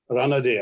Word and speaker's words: Ranade: Just as I mentioned Justice Ranade earlier, Ranade, I think is the right pronunciation, who had a social justice movement, a social conference, which is also a reformist thing.